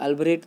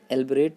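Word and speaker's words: elaborate: एल्बोरेट this thing please, एल्बरेट this thing. इसके pronunciation में generally ए भी बोल देते हैं, लेकिन ई इसका प्रोनाउंसिएशन एल्बरेट करना होता है।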